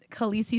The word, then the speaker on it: Khaleesi: up and he said Khaleesi is actually supposed to be pronounced a Lacey but he he did